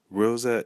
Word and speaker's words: Rosa: Rosa in Creole would be Rosa. Rosa. So we hear that the final syllable, za, has the emphasis. So we place the acute accent over the A.